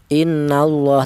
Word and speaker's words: Allah: Cara bacanya lafal Allah ini dibaca tafhim atau dibaca tebal. Innallah seperti itu. Tidak boleh dipecah tarkik ya innallaha tidak boleh.